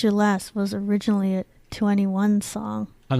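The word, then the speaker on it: 2NE1: any1 21 you think that's I we keep pronouncing It 2 any1 but it's 21 one really it doesn't fit them they have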